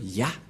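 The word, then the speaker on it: יה: Cette forme se prononce Ya.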